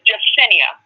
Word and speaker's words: Jessinia: It say, y'all call me, but it's pronounced. Oh, what is it? My name is Jessinia, which means she who watches.